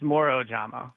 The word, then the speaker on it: Moro Ojomo: You're making me second guess myself, but yeah, it's Moro Ojomo.